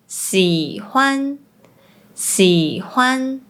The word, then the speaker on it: 喜歡: “x” is pronounced like “s” For example, “開心 happy” is pronounced like “kai1 sin1” “喜歡 to like” is pronounced like “si3 huan1” Pronouncing “東西 thing; stuff” as “dong1 si1” Sometimes, they also pronounce “j” similar to the “z” sound.